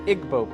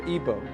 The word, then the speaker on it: Igbo: Another area in Africa, you have the Igbo people, or Igbo, pronounced either way.